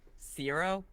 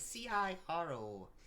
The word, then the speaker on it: Ciro: Ciro. It's spelled C-I-R-O.